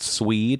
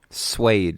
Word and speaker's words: suede: think that I used swed which I believe is a rudaba here suede it's pronounced is it yeah blue